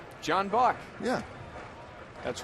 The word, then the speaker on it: Buck: It rhymes with luck. John Buck.